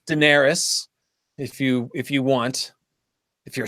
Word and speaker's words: Daenerys: And of course, George says pronounce everything how you want. So Right. it's Daenerys.